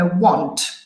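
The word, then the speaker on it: won't: Will not si può accorciare come want. Ok, quindi la forma negativa è want. Ha la stessa pronuncia come want, volere.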